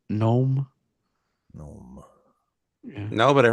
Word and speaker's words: Gnome: Just like a regular gnome. Yeah, Gnome. with the stupid hats. The G is silent.